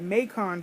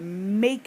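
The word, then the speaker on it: Macon: I would call it maon Georgia but they call it Mak out there like pronounced like bacon but with a M so I was like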